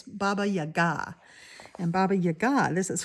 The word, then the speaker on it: Baba Yaga: Some I had a Russian follower tell me how to say it's Baba Yaga.